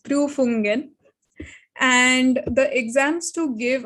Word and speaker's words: Prüfungen: So in German, exams are known as Prüfungen. Some German language lessons for you. The U with the two dots on top, which are called the umlaut, are pronounced as U. So it's Prüfungen.